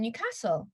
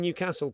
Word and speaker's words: Newcastle: I know that people in Newcastle pronounce it Newcastle, but if I pronounce it Newcastle, I look like a wanker.